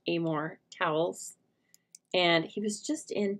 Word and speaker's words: Amor Towles: It's, well, I think his name is pronounced Amor Towles.